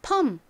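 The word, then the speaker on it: perm: 아까 말씀드렸던 것처럼 처럼이 리을 발음을 빼고요 미움 받침을 넣어서 펌 요렇게 발음을 해 주시면 됩니다 여러분이 해외에 있는 미용실에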